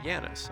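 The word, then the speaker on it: Janus: them who cares apparently you pronounce the J as y so yanis okay like okay so it's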